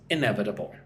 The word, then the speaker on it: inevitable: So, here we have the example sentence with the current trends, some form of change seems inevitable. In-ev-it-a-ble. Five syllables for that word.